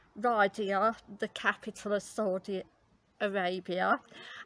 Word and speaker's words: Riyadh: Excuse my pronunciation, just say, but it's Riyadh, the capital of Saudi Arabia.